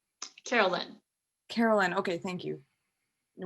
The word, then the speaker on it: Carolyn: Is it pronounced Carolyn or Caroline? Carolyn.